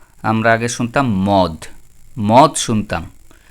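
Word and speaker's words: مد: তারপর আমরা শুনতাম আগে কি মা আমরা আগে শুনতাম মদ মদ শুনতাম কিন্তু শব্দটা মদ হবে না শব্দটা হবে কি মাদ তারপর আবার আগে শুনতাম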